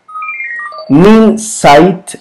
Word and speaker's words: Minsait: a miles de mexicanos min sites una compañía de granos se pronuncia así ya más adelante buscaremos